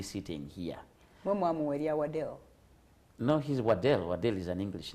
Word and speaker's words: Waddell: No, he's Waddell. Waddell is an English name. Waddell. His name is Keith Waddell Mortimer. Waddell spelled with a W.